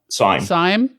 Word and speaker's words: Syme: I'm not sure how to pronounce his name. Hugh Simi, or is it Sim? Syme.